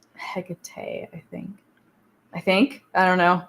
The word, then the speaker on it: Hecate: Other people say Hecate, Hecate. There's a whole bunch of different pronunciations. They're all equally relevant. Yeah. I say Hecate, I think. I don't know. I do the E just because of Persephone.